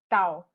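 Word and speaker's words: 道: uh the word that we're going to use tao um um for your information my i studied pasta chinese highlighter cow is actually the pronunciation so upper et dao uh downing a tenure natural order natural order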